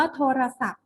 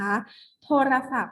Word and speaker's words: โทรศัพท์: นั่น เอง นะ คะ เป็น ตัว อักษร ที่ จะ ไม่ ออก เสียง นะ คะ ไม่ ออก เสียง ว่า ณ อักษร ที่ ไม่ ออก เสียง นะ คะ อย่าง เช่น คำ ว่า โทรศัพท์ นะ คะ โทรศัพท์ เห็น ไหม คะ ว่า